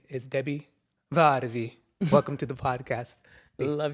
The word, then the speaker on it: Debi Varvi: correctly yes you did and her name is Debbie vvi welcome to the podcast love your pronunciation thank you gotta and how's your day